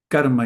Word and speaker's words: karma: Karma yoga I also stress this first part because when two conssonants are together actually it's also a way why you should put an accent on this first syllable kama yoga giving everything back in